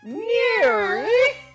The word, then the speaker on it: NIIRYF: Those are the letters for the name of the show, and it's pronounced NEAR.